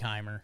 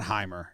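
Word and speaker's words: Jeimer: wrong my whole life i've been saying jamer it is jamer it is chamber i like heimer it's not hymer it's jamer i heard the tigers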